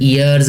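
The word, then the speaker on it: heirs: हिज ईयर्स आर, ये एच जो है ये साइलेंट पढ़ना है इसको, ईयर्स आर 6 डॉटर्स, उसके वरसा में 6 बेटियां हैं उसकी, और 2 सन्स और 2 बेटे हैं।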